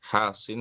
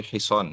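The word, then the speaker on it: حصان: Bukan hasin tapi hison ya. Kalau seperti ini bacanya hasin ya. Ini bukan hasin tapi hison ya. Sodnya yang panjang.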